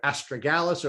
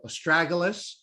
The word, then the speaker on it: astragalus: You started taking, and I know people pronounce this herb differently, either astragalus or astragalus.